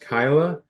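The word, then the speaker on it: Kaila: so that my daughter Kyla her name is k a i l a pronounced Kyla she's called Kayla by half the people she knows now they know it's Kyla but they call her Kayla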